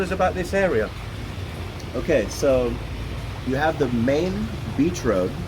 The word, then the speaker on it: soi: Just it's obvious to anybody who's been to Thailand before, but if you've never been to Thailand, the word soy, and it's spelled S-O-I.